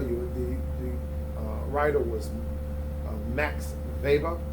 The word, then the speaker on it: Weber: I'll just tell you, the writer was Max Weber. It's spelled like Weber, Weber, but it's pronounced Weber.